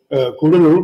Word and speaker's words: Cuddalore: off the coast of Cuddalore. It's actually not pronounced Cuddalore anymore, thank God, Kudalur, but anyway, Cuddalore is